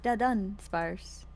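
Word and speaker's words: Dunsparce: feel like I'm like really emphasizing the dun part yeah it's dun sparse I wish I the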